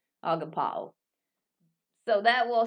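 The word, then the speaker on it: ἀγαπάω: It will be agapeo. Agapao is the correct pronunciation. Agapao.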